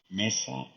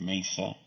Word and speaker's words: Mesa: Flack because she was pronouncing the names of some of the cities in Arizona correctly as they are Hispanic names such as Mesa Arizona instead of Mesa others are that's like a grande oh sorry Casa Grande instead of Casa Grande there are others